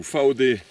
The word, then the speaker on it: Vaude: 38 litres de chez vaude ou fao des si on prononce à l'allemande donc voilà c'est un